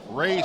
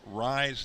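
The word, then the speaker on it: Rei: I'm mixing up Rye's name and calling him Ray because it's spelled R-E-I. The pitch. But his name is Rye, as in rye bread.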